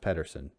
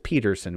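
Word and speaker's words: Pederson: uh back in his it's not really pronounced pedersen i know i'm gonna keep doing it though just to remind folks at home fake news it does not pronounce patterson it's peterson almost like peterson with a t it's peterson with a d uh fantasy speaking his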